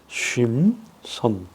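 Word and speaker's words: שמשון: 레신이 그렇게 발음할 수 있겠습니다. 그 다음에 쉼손이에요. 쉼손. 삼손의 히브리어의 이름은 쉼손입니다. 쉼손.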